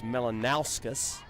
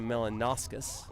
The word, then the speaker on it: Melanauskas: found out about 15 minutes ago that I've been mispronouncing her name for the better part of now this is the second season of softball. It's Melanauskas. I was saying Melanauskas.